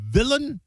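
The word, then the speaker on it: Bob Vylan: Uh where do you stand on Bob Villain? Rhymes with Dylan, I suppose.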